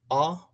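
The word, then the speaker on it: ʻapapane: Then you come down to the other red, which is A-Pa-Pa-Ne. a, pa, pa, ne. And the way I'm breaking it down is through the Hawaiian phonetical sounding.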